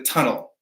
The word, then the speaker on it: tunnel: Something that's underground is a tunnel, right? That is tunnel. It's going to be at the beginning of the word, and it's a hard T.